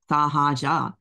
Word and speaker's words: Sahaja: It's like Sahara Desert, it's just literally 3 syllables. Sa, ha, ja, not rocket science, you know, but people couldn't say it.